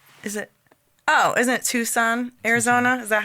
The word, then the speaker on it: Tucson: Oh, isn't it Tucson, Arizona? Is that how it's pronounced?